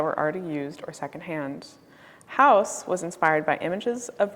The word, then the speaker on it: Huis: De Broeker decided to call this piece Huis, which is spelled H-U-I-S, and is the Dutch word that translates to home.